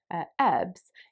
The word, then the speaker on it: herbs: for example the word herbs in british english is derived from french and american speakers actually pronounce it in kind of like a french way so they say ebbs if you're an american